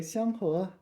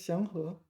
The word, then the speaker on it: 祥和: 和 can be pronounced fourth tone to mean like shout or something like this, right? No, it's 祥和.